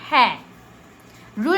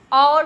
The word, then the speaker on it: hour: वो आपने हमेशा नोटिस किया होगा कि लेकिन हम और क्यों नहीं, हौर क्यों नहीं पढ़ते? हौर नहीं पढ़ते, उसको और पढ़ते हैं। और क्यों? क्योंकि एच साइलेंट होता है।